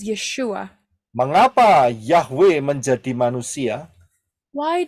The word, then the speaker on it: Yeshua: Yin W Ain yang yang diucapkan adalah yesua and the pron pronunciation is yeshua Mengapa yahwe menjadi manusia